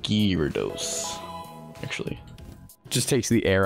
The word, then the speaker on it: Gyarados: It's pronounced Gyarados, actually.